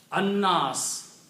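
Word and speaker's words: الناس: An-Nas, okay? Noon is pronounced twice, lam is not pronounced.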